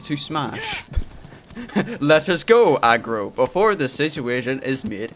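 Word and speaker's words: Agro: youtube videos that um it's not pronounced abra it's aggro okay for some reason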